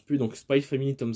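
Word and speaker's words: Spy×Family: Spike alors spy familier je prononce plus le X c'est vrai le cross je prononce plus donc spy family tome 7 bientôt et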